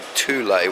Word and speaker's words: Thule: I've been told what it's called actually called Thule which I never knew that's the proper pronunciation so this is their vehicle side of